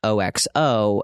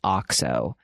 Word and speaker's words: OXO: OXO is that brand that is OXO that I always thought was pronounced OXO until I heard somebody pronounce it as OXO.